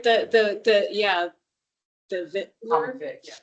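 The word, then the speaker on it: victualler: Jeremy and I had a conversation about the pronunciation of that word. My voice says Vic. It's apparently Vitler and like it looks like Vickual, but it's actually Vitler, which you knew.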